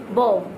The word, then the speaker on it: bomb: इसमें did you notice something, when we will notice that b before the b, when you will notice before the b, if m is here, so we will never pronounce b, we always keep on the silent mode to b, okay.